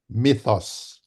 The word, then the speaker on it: Mythos: Mythos. Mythop. There we go. Thank you. Myth. Mythos. Myth is a myth with an O at the end of it.